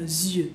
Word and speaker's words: yeux: Yeux, yeux. En la boquita bien para adelante. Z, como una mosca, yeux. Y la I, la Y es como una I, E, U, Z, Z, yeux.